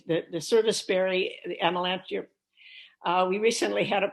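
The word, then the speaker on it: Amelanchier: say it and we i said we say amalanche but she said it's amelenkiri here you pronounce each of the vowels in this album so i learned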